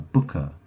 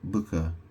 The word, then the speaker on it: Bucha: It's a place called uh, Booker. I think it's spelled B U C H A.